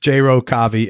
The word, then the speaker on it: Row Kavi: It's Row Kavi, and his name is spelled Jai, Jai, Row Kavi.